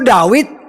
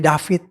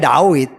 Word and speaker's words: David: Dulu wau, sekarang jadi fa. Dulu Dawid sekarang jadi David. Tetapi aslinya ya Dawid.